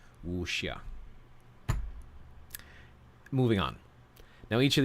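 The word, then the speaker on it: wuxia: the wusia foreign so in Chinese pinion X pronounces like an English s h so it would be wushia moving on now each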